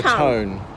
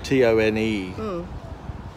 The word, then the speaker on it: Tone: The river, well, it's spelled the River Tone. Yeah. T-O-N-E. I expect locals call it the River Tone. As in Taunton. As in the town on the Tone. Town on the Taunton.